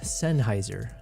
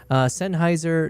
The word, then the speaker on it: Sennheiser: Sennheiser, not Sennheiser. Yeah, so it must be a me thing. I just pronounce it wrong.